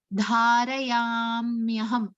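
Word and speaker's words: धारयाम्यहम्: So when we say that word as a whole, we must say Dharayamyaham. That M sound must be prominent when we pronounce that compound word.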